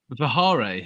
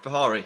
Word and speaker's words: Vihari: Jack, in terms of some of the other players in there, Vihare is. I'm going to say his name wrong. Vihare. Vihari.